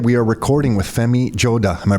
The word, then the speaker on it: Joda: thank you we are recording with femi Joda am I pronouncing your last name properly Joda Joda yes and that that last name is from